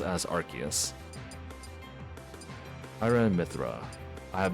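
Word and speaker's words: Arceus: It's actually not Arus, but Archus because you know the arc in its back.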